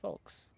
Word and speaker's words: folks: Folks. Folks. Oh my gosh. You don't say the L, do you? You can if you want. I don't think you do. Oh my goodness. The L is silent.